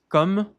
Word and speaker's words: comme: Bom, comme, não se pronuncia esse E, mas levemente esse M, comme, d'habitude.